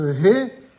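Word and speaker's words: ה: français encore que euh dans la langue anglaise vous avez cette prononciation on a déjà dit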